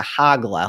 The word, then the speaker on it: Hoglah: it spells hogzilla's name h OG la and so you might be like how do you pronounce that but in the Hebrew it would be closer to hog Allah like h AG so anyways we've got